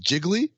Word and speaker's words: Gigli: uh second line was it's pronounced jiggly the third line is